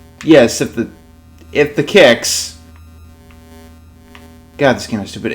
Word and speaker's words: Qix: this game is kicks and yes it is pronounced like that kicks is the first game